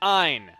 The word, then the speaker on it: Ein: It is pronounced Ein.